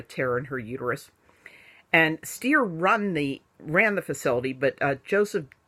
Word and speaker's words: Steir: Bruce Steir. Very appropriately, rhymes with fear.